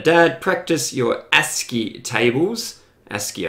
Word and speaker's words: ASCII: ASCII, I think, is the way they pronounce it.